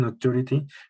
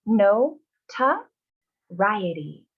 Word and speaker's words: notoriety: We say no ta riety. Notoriety. Notoriety.